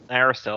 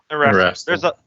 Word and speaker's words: Erastil: That's not how that Aristil. That's not how that's pronounced at all. Anyway, Erastil? Erastil.